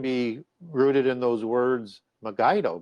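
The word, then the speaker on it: Megiddo: rooted in those words magido because that's going to become the mountain of the assembly and people think that megido is you know where armageddon's going to be found because they used a hard G because they didn't have the proper lettering in Greek to do it and I'll show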